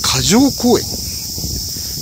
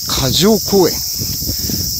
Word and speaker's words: 霞城公園: てきました箇条公園ちょっと読みづらいですね知らなきゃちょっと無理ですね霞の城公園と書いて過剰公演どこぞやと